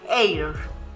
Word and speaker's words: heir: Se pronuncia en delante de palabras que comienzan por vocal o por H que no se pronuncia. Ejemplo, an hour, an orange, una naranja, an envelope, un sobre, an heir, un heredero.